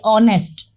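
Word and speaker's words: honest: तो हमने क्या देखा कि लिखा भले ही एच है लेकिन इसका जो साउंड आ रहा है वो कैसा आ रहा है, वोवेल साउंड आ रहा है।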